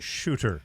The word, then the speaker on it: Suter: the Vancouver Canucks here I believe it's pronounced shooter by the way and